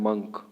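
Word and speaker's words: monk: इसके बाद है मॉन्क, है ना। मॉन्क बोलते हैं जो तरीका बिल्कुल गलत है, आपको क्या बोलना है? मंक।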